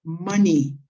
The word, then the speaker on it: money: This word is pronounced money, como maní con acento en la A. Money, no money, money.